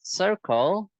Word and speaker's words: circle: This is circle. The first C is a soft C, and the second C is a hard C.